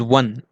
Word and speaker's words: one: Though this particular word is start with O, that is vowel, but the pronunciation of this is one, right?